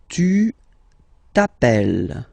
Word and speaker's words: t'appelles: Alright, second form, tu t'appelles. Okay, remember, final S not pronounced. Tu t'appelles.